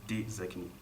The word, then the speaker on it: Taezakni: Alors ça s'écrit Taezakni, mais ça se lit Tezakni.